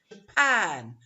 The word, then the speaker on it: Japan: The same goes for Japan, the ga, or Brazil, the ga, Brazil. Okay.